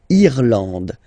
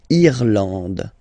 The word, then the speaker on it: Irlande: Remember, this is E, and it should be pronounced like E. Irlande. Irlande. Okay, A-N, en, D, and final E, not pronounced.